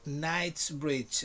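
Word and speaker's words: Knightsbridge: on the street of knight's bridge repeat after me knight's bridge knights bridge now in two different parts knights bridge nights bridge the k you don't pronounce it you only use it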